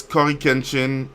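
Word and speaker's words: CoryxKenshin: One is Cory Kenshin, so the X is silent like Hunter x Hunter.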